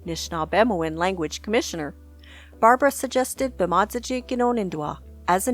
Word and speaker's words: Bemaadizijig Ganoonindwaa: You said for “Talking to People,” Bemaadizijig Ganoonindwaa. Ehn, perfect! So wait, can you say it? So talking to people, can you say it? Bemaadizijig Ganoonindwaa.